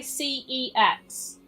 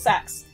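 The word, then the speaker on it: CeX: some people review them you pronounce sex different to me I say cats I used Jamesy I used to say c e x but there's actually been an advert on TV and it does this whole thing where it's like it makes a little tune and then it's like sucks so I've actually seen a legit TV advert for that shop so it's pronounced sex which you know if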